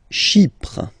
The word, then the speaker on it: Chypre: Chypre. Chypre. So remember, we've got this Y letter here, but then phonetically when you pronounce it, it's like I, okay?